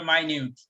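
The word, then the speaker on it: minute: এটা মিনিট উচ্চারণ হবে না, এটা উচ্চারণ হবে মাইনিউট।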